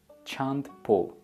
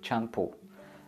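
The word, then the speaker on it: чанд пул: How much would be chand pul? Chand pul. So, no need to pronounce D. You can just say chand pul. Look at this like a swimming pool. You can just say pul, chand pul.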